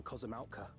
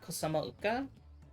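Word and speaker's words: Kozama'uka: The vegetation is far denser than in Kozamauka. That's how you pronounce it? Kozamauka? Not Kosamauka? I suggest you pay more attention to the ground, unless you want to walk straight into a cenote.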